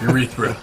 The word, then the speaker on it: urethra: that thick uretha urethane urethra yeah that's a hard word to say you read through yeah gotta put that r on the last syllable so you got a